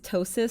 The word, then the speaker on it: ptosis: rabbit hole here so first of all it's ptosis spelled p-t-o-s-i-s it's basically the degree of how